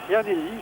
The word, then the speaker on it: Llanelli: C'est le club de Llanelli, je le dis parce que ça se prononce comme ça. C'est très dur à dire.